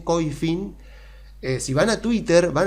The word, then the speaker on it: Koyfin: de Twitter de Coifin, que se escribe Koyfin latina N, Coifin, si van a Twitter